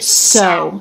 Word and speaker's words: so: is so unclear so the word so is not pronounced so with the oh diphthong so but it's so it's just the essence maybe you would write that as schwa so what the W